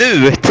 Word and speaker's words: Knut: Sorry, I see where No, it it's says pronounced nut. Knut.